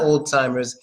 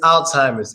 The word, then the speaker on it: Alzheimer's: be able to say hey no it's not Oldtimer it's Alzheimer's it's the name of the